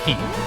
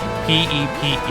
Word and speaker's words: Pepe: Anyway, if meme was pronounced meme, then Pepe, the frog, should be pronounced Peep. P-E-P-E.